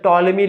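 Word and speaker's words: Ptolemy: देखते हैं कभी-कभी जैसे टॉलमी लिखा होता है तो टॉलमी लिखा होता है वो ठीक है टॉलमी की स्पेलिंग क्या होती है पीटी से शुरू होती है पी इसमें साइलेंट होता है तो क्या जरूरत है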